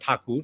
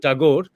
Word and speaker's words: Thakur: this word Thakur and not Tagore just because I'm talking in English, because Thakur is the name. And this is it's a bit shameful that we Indians and Bengalis continue to use the distorted pronunciation that the Europeans had started because they could not pronounce.